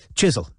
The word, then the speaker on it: Chiswell: jasper jasper chisel yes said robin pronouncing the name as the chiswells did themselves chisel he's my godfather venetia